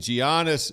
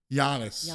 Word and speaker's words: Giannis: Stop saying Giannis. It's Giannis. Freaking Giannis with a silent G.